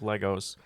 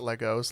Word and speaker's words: Lego: you made out of Legos um very very important question if uh it's pronounced Lego not Legos Lego is there are